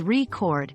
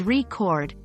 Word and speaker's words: record: record when pronounced as record with the stress on the first syllable refers to a noun like a musical recording but when pronounced as record with the stress on